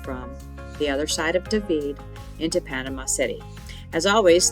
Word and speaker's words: David: Today's video is going to be documenting what it looks like to drive from just outside the capital of Panama in Devid spelled David but pronounced Davided Panama all the way to Panama City.